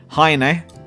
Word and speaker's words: Heine: This is how it's pronounced in Japanese, despite him possibly being German. Heine.